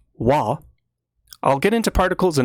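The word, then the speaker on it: は: Uh as a particle, ha is pronounced wa.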